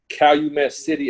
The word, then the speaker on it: Calumet City: a school and they call me I pronounce it Calumet City Illinois it's like a it's a South suburb